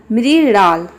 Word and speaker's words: मृणाल: मृणाल इसको हम प्रोनाउंस करेंगे मृणाल।